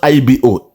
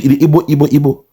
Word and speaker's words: Igbo: are pronouncing our name, they are still calling us IBO. You know, the Igbo, or Moibo. Till this day, they cannot call us IGBO for a reason.